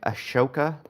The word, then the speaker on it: Ahsoka: My problem with it is um what's the H doing there? I just I in my my mind I pronounce it Ash ashoka but that is wrong.